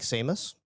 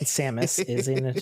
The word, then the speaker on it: Samus: now can I take Seamus that's not how you say her name but Samus character yes and actually